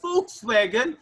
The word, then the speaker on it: Volkswagen: All right, it's a Volkswagen. You know, Ahmed's right, but the pronunciation so lovely. Yeah, you don't say with the V, you say with F, right?